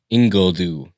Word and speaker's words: Ingledue: And it's Ingledue.